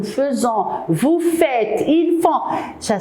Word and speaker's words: faisons: On écrit avec AI, nous faisons, mais on le prononce nous faisons.